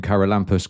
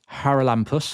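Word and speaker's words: Charalampos: So, don't don't pronounce the C. So, it's Haralampus.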